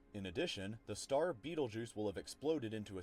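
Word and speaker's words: Betelgeuse: I mean, it's spelled differently than, you know, the goat Beetlejuice, but it's still the same word, Beetlejuice.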